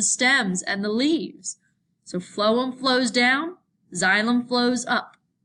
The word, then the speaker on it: phloem: easy to remember because the pH gets pronounced like an F so phloem moves food from the